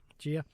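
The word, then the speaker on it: Jia: Her name is pronounced Gia.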